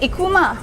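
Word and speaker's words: Ikooma: And so I was like, okay, it sounds like I-K-O-O-M-A, and that's how the name came about.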